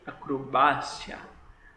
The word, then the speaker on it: acrobacia: Eu falo em português normal, acrobacia, acrobacia. Ok, o sílaba tônica está aqui. E no espanhol já é diferente, eu já digo acrobácia, acrobácia. Assim como todas essas outras